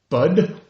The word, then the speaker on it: bud: Nip it in the bud. Spell it. Oh, B-U-D. B-U-D, like a bud of a flower. Yeah. Right. Usually people would say nip it in the butt, like your rear end, your pompis, as we say in Espanol.